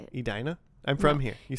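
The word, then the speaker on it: Edina: Adina.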